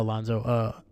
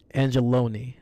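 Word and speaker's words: Anzalone: Sorry, not Alonzo. Angeloni is how you say his name.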